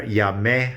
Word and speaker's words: Llamé: Llamé has an accent on the E. Contestó has an accent on the O.